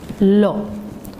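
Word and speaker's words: לו: That word is spelled lamed vav, and it's also pronounced as lo.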